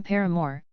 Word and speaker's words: Paramore: soundtrack The Noun Paramore same pronunciation as the band name Paramore evolved from the French